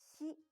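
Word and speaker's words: し: row 30 seconds so did you notice that she is different from the English pronunciation of fit in signal in Japanese she is romanized as s-h-i so it's not se but she she also be careful because it's a little different from the English pronunciation of some reason don't round the lips like you do in English repeat after me coppers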